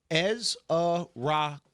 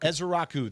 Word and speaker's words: Ezeiruaku: Back to the Ezaraku, by the way. Donovan Ezrau. Easy. That is how you say you Donovan. It is easy. Ezrau is easy to say. Donovan Ezra. Ezrau, that is how you say his last name because get used to it.